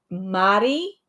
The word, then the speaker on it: Madi: If you, I think it's August, September, Madi at Madi Sews, and it's like Marie, Mari, but she pronounces it Madi.